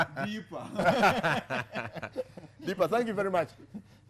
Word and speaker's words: Deepa: My mother used to pronounce Fox's name as Books. So you wanted to say Deepa. Deepa.